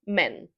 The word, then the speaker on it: men: For the plural form, we use the vowel like in words elephant or red. It's quick, it's short and we say it like men.